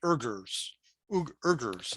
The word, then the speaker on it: Uyghurs: The Chinese wage a policy of forced sterilization and labor on the Islamic minority, the Uyghurs, I believe that's pronounced.